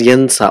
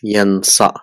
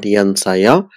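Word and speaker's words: ينسى: So it is again pronounced as yansa. It's not yansaya, it will be yansa.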